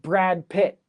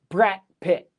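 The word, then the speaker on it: Brad Pitt: So we later we have Brad Pit. It's not the same as brat pit. So uh Brad Pit, brat pit sounds very similar, right? But the T is a little bit harder.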